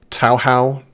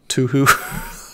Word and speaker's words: Touhou: It's pronounced Touhou, not Touhou.